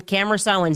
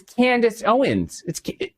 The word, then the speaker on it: Candace Owens: It's always got to be Tucker Carlson, Cameron Owens. It's Candace Owens. It's Candace. Let's cut here.